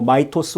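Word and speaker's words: Mythos: 클로드 미토스라는 것 때문에 뭐 마이토스 혹은 미토스 어 발음하든 상관없습니다.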